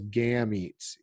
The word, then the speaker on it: gametes: We call those gametes. Gamete is spelled like the word game, G-A-M-E, and then T-E-S on the end, gametes.